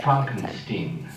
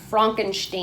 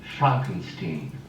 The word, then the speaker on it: Frankenstein: That's Frankenstein. Frankenstein. I beg your pardon? Frankenstein. My name, it's pronounced Frankenstein. And not because of my accidental relationship to a famous Cuckoo.